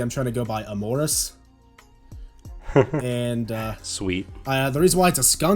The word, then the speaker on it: Amoris: It's Amoris, by the way, which I know it's, like, spelled like Amor... I tried doing the weird spelling, so it didn't sound like amorous, because amorous is also, because...